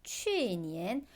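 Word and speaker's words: 去年: 작년은 취니엔이라고 해요. 자, 취니엔 우리이 취자 어디서 봤어요?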